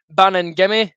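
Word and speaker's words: Baningime: got michael smith john souter peter harring benny bannon gimme that's how you say his name bannon gimme sorted i was calling benny benny bannon gimme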